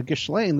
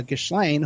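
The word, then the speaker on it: Ghislaine: but the thing is that's how it's spelled so that's how i pronounce it for people it's the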